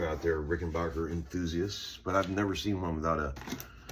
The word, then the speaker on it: Rickenbacker: Some guys say Rickenbacker. But I like to say Rickenbacker because that's what I've always said. I don't care if it's wrong.